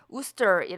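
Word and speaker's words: Worcester: 아니다 이런 의미가 된거죠 여기서 우수 절 스펠링이 마치 월 치아 스 처럼 이런식으로 발음이 될 것 갖지만 그렇게 발음이 되지 않구요 우 스 트리 라고 발음해야 합니다 우스 철은 미국의 매사추세츠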